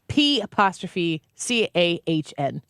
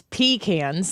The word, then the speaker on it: pecan: I think I say pecans. Nobody says pecans. That's like where you pee.